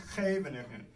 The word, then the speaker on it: Scheveningen: Gs get pronounced ch, that thing in the back of the throat. So it's Scheveningen. It's this, you know, it sounds like you're hawking a loogie.